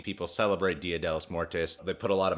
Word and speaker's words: muertos: I think it may be Dia de los Muertos. I might be saying it wrong, but according to my white friend John, it might be Dia de los Muertos. Muertos, not muertes. I've been saying tes, huh?